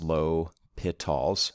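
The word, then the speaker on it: L'Hôpital: again uh it's pronounced low pit talls so there's no hospital thrown in there um so what has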